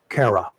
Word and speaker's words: Cara: you have to translate this stuff, Anyway, we're back in here, and we have, according to the phonetic spelling that was given to me, Cara. Yes.